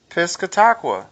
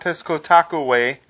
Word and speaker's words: Piscataqua: only people have cute the a is not long come on only people in Massachusetts will pronounce it that way piscataqua okay okay not Pesco Taco way go with that we'll